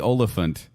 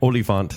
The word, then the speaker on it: Olyphant: Timothy Olyphant, I always say his name like that. I don't know why. Oliphant, like in Lord of the Rings.